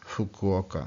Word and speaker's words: Fukuoka: Fukuoka. It's like again this puff of air.